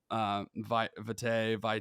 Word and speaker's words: vitae: I pulled up your curriculum, vitae. I guess I've never actually heard the pronunciation on that.